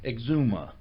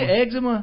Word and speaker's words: eczema: like a skin condition exuma that's a eczema you said eczema hey Zuma that's how they pronounce it in the movies eczema it isn't you exu